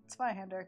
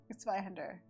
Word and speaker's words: Zweihänder: Let's learn German pronunciation. Zweihänder. Good. Zweihänder.